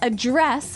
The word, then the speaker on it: address: So the verb address has the stress on the second syllable.